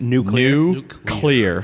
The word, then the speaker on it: nuclear: feel like I have if I want to say it properly I have to think of it as two separate words new glue clear feel like it's like